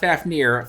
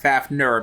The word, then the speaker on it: Fafner: that one right now not fafnir fafner because it's spelled with an e instead of an eye okay anyway everyone